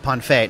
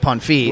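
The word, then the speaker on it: Ponfeigh: all that yeah p-o-n-f-e-i-g-h it's about pronounced ponfeit not pan fee like myself said because John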